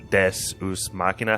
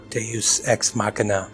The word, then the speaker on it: Deus ex machina: Like, this is the Deus Machina. How do you say that, Pat? Deus Ex Machina.